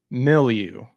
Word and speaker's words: milieu: More so of like just how to pronounce it. Milieu.